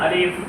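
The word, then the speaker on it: ألف: আলিফ বলার সাথে সাথে মুখ থেকে বাতাস বের হতে হবে। যদি বাতাস বের হয় তাহলে আপনার আলিফ উচ্চারণ হয়েছে, আর যদি বাতাস বের না হয় তার মানে উচ্চারণ হয়নি।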